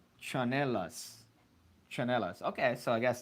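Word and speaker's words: tsinelas: And then Vanessa chimes in saying, in the Philippines, we call them, pronounced chanelas.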